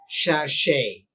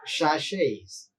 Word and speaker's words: sachet: refer the dictionary for the correct spelling so pronunciation uh you will find it as shashay right right you might have seen many sashes like shampoos or in are available in small sachets so it is pronounced as but if you